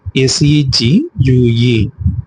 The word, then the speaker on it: segue: S-E-G-U-E. இது எப்படி pronounce பண்ணணும் அப்படின்னா segue.